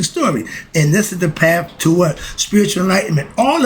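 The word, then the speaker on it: Ptah: their perspective which is pa the self-created one it's pronounc it's spelled p t a h some people say pa the p is silent like the d is silent like the k is silent certain letters in the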